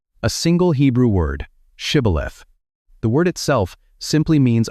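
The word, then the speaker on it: שִׁבֹּלֶת: But the dialect of the Ephromites did not include the shh sound. When an Ephromite tried to speak the password, he could only say cibth.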